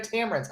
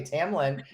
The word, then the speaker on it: Tamlynn: be a guest in a moment say it Tamlin Tamlin thank you sorry I like Tamron though because I was thinking you know Tamron okay Tamlin I will be respectful see if your mother